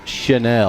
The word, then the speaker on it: Channel: name of Bruce Chanel, spelled like channel, but Bruce pronounces it Chanel.